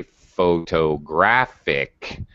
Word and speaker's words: photographic: why when we say photographic all right suddenly i have to change the syllable stress again to proceed ick photographic there it is again because